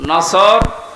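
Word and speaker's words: نصر: এজন্য তেলাওয়াত যখন করবেন সদ উচ্চারণটা মুখ গোল করা লাগে আল্লাহ পাক জানিয়েছেন যখন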